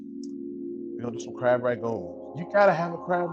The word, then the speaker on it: Rangoon: Rangoon, R-A-N-G-O-O-N. Rangoon. We say ragoon. So it just all depends on where you're from, you know, and how you say it.